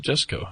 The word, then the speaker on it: Jusko: He pronounces it Jusko, apparently.